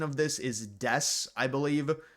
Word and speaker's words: Desu: This coin is the pronunciation of this is Des, I believe. The U is silent. It's not D. It's not Desu. It's Des.